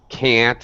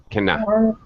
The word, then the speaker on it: can't: Make sure, all right, if you're going to pronounce can't, the reduced reduced construction here, make sure it's one syllable. Can't, not cannot.